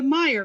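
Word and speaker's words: Mayer: families, M-E-Y-E-R, and the Meyer family, M-A-Y-E-R, and both were pronounced Meyer.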